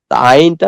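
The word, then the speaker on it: ع: মনে হয় না ভালো আইনটা উচ্চারণ উচ্চারণ করলে আমরা শুনতে পাব ইনশল্লাহ সমস্যা হলে ঠিক করা যাবে আইন গলার ভিতর থেকে হবে আইন আইন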